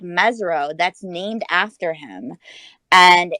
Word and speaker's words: Mesirow: be and you know my last name is mezro it's not spelled with a z but there's a very